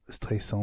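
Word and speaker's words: Streisand: elle s'appelle Barbara strend avec 2 S c'est pas un Z or Siri disait stand alors en 2016 la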